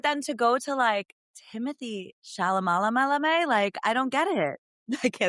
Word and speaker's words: Chalamet: But then to go to Timothée Chalamet, I don't get it. Okay, that's all I can call him because I actually really don't know how to say his last name. So. Chalamet.